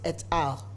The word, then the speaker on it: et al.: I remember one of my students was telling me that this is not al, it's et al.